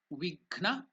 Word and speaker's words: vighna: Bhumi, Vighna. Gha is also Mahaprana, that's why Vighna.